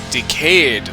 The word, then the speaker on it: Decade: so the name right decayed is upon decade as in this was a 10 year anniversary but also is pronounced like decayed like when things are breaking and falling apart neat anyway turns out